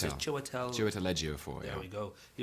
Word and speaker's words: Chiwetel Ejiofor: I'm going to try and pronounce it. Chiwetel Ejiofor, yeah.